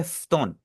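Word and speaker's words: 布団: जो ऊ है ना, ऊ को हमने यहाँ पे साइलेंट रखना है, इसको हम पढ़ेंगे फ्तोन। फ्तोन, कोशिश करें ऐसी आप Puton, आवाज निकालें, बीच वाला यू जो है ना, यू को आप पढ़ेंगे ना, इसे आप पढ़ें फ्तोन।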